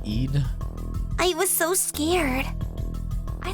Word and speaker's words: Eid: dad gave me for Aid anyway I went down into the basement and then he slammed the door on me and ran away isn't it pronounced Eid I was so scared